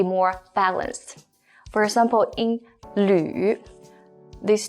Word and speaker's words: 吕: This one, first of all, is pronounced as 吕.